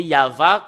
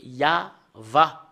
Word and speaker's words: YAHVAH: Et le fait de le lire selon la Sainte Écriture hébreu, c'est Yava qu'on le prononce. Et vous ne pouvez pas faire une discussion et le contredire que c'est Yava.